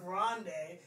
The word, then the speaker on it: Grande: I never forgot how to pronounce it, because, like, yeah, Ariana Grande.